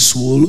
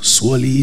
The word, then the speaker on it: Swoole: meso and SW so the pronunciation is is dependent on you you can call it swo swoly SW anyone is fine um quick show of